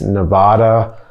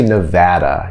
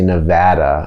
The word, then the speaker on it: Nevada: All right, so the first thing I want to talk about is the pronunciation of Nevada. A lot of people think it's Nevada, but no, it's really Nevada.